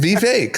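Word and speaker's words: Vivek: It is Vake like cake.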